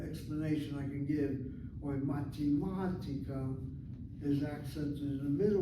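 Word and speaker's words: מתמטיקה: In the case of mathematics, the accent is on the 3rd syllable. If you look at mathematica, it has 1, 2, 3, 4, 5 syllables. Ma, te, ma, ti, ka. And the accent is not the last syllable, but the 3rd from the last syllable.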